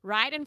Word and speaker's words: Raiden: Ryden I think so Ryden from medle Gear Solid is how you say it correctly because it's a Japanese name Raiden in Mortal Kombat sounds the way it does cuz Ed Boon